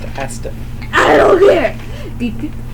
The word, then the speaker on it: ASDF: It's pronounced Astif.